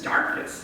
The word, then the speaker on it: Dorcas: But they talk, one of them is spelled D-A-R-C-H-A-U-S, and Mary Lou says it's because this woman would have had a pretty thick Irish accent, and it's Dorcas, you know, is how she would have said her name.